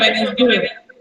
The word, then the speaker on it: Wednesday: When we speak, D is silent. Okay, Kanishka. जब हम बोलते हैं तो D silent होता है Wednesday.